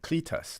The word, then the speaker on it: Cletus: And I may have pronounced this incorrectly. First time around, Dr. Cletus Bertin. Cletus, not Cletus.